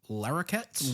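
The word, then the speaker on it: Larroquette: How did you pronounce that last name? Larette.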